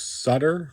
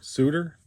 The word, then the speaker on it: Sutter: out as a catcher Bruce Sutter Suter I've heard it pronounced either way Claudel Washington Chris Brown